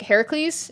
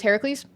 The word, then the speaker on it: Heracles: Hercules which is like Heracles in Latin or yeah the Roman pronunciation is Hercules whereas the Greek one is Heracles uh gree just don't